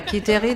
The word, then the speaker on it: Quiterie: Quiterie de. Wow, you're doing well, you're doing well. No, but the QU for English-speaking people is just QI, so it makes sense.